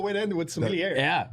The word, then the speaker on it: sommelier: With 20 plus years in the hospitality industry and as an advanced sommelier, did I say it right?